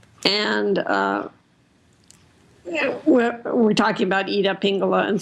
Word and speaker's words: Pingala: The Ida and the Pygnalia, which are kind of like, stop laughing.